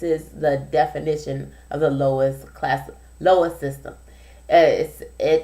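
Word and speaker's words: LOIS: system out there and it's pronounced the lowest system l o i s system and uh I've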